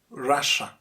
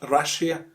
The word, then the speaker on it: Russia: are talking about russia russia it's not russia russia and people from russia russians